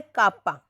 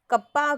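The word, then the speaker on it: kappa: में बोला गया है कापा। कप्पा कापा जो आप प्रोनाउंसिएशन करें that depends totally on यू, कोई बाउंडेशन नहीं है इसके लिए कि मुझे तो यही बोलना है या आपको तो यही बोलना है, ठीक है।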